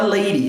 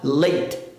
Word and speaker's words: late: Então eu não vou falar lady, eu vou falar late. Late. Porém, já existe a palavra dama.